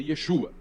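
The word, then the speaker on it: ישוע: hoje falando de que o nome dele ele é Yeshua e sem dúvida era assim que se pronunciava o nome porque em aramaico eem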